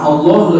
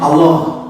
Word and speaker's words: Allah: Jadi ada pronunciasi O, ada vokal O, Allah. Padahal kan di dalam bahasa Arab tidak ada O.